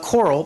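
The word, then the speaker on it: COERLL: oh here we go so coral that's how i'm pronouncing it you may pronounce it any way you like it's crazy acronym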